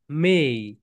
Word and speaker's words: may: দাও সবাই মেই মেই বাংলাদেশে এটাকে আমরা সবাই বলি মে এটাকে কি বলি বলতো মে বলি কিন্তু এটার রাইট প্রোনাউন্সিয়েশন কি বলতো মেই সবাই বল মাই ডিয়ার